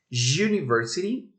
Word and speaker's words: university: honest and horror so when we're talking for example about university the first letter is not like it's you and it sounds like the consonant y so that's why we